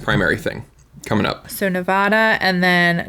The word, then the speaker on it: Nevada: thing coming up so Nevada and then do you say Nevada or Nevada I think I say Nevada and yeah and then